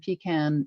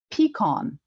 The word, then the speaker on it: pecan: industry there and but they say it peon so that's a third pronunciation how do you think